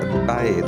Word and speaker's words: bathe: The word bathe means to wash something, especially a part of your body, or to go swimming in sea, river, etc. This word should be pronounced bathe and not bath.